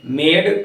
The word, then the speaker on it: made: ई का उच्चारण साइलेंट कब होता है? जब ई प्रायः शब्द के अंत में आता है तो हम उसका उच्चारण साइलेंट रखते हैं। जैसे आपने देखा था MADE, मेड।